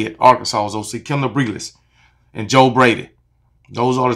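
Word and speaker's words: Briles: Garrett Riley, Kendall Breeless, that's how you say it, Arkansas's OC, Kendall Breeless, and Joe Brady.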